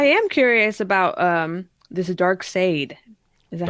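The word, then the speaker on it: Darkseid: But I am curious about um this dark sade. Is that how you say his name? Dark Side.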